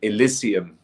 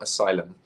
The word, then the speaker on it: Elysium: on the last album Elysium by the way not Asylum oh Elysium Elysium yes I am saying it right right no no worries